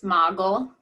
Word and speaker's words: Magel: She is am I pronouncing it right, Magel? It's Magel.